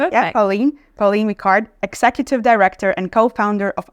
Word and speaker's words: Pauline Vicard: Today my guest is Pauline Deard. Did I pronounce it? Yeah, perfect. Yeah. Pauline Mikard, executive director and co-founder of Areni Global.